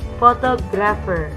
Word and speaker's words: photographer: Photographer. Nah, di sini ada PH. PH dalam bahasa Inggris itu dibacanya F ya. Photographer.